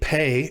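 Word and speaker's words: פא: Without the dagesh, the pei is pronounced like ph in alphabet, but because it's the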